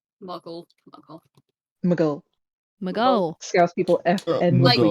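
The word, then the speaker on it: Maghull: When I first got here, there was someone who messaged asking if we could transport things to Mughal, which is spelled Mug Mughull. Mhm. So I said, "Can we can we transport things to Mughal?" And they're like, "What the fuck did you just say, you posh git?" Muggle.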